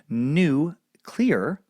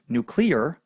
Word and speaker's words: nuclear: a settled issue uh so if you want to be safe uh they do say say new clear nulear uh I just don't like it that way uh we do not list this is what Mariam Webster says they say uh we do not list a pronunciation of nuclear as acceptable we merely list it as a commonly used pronunciation this pronunciation is preceded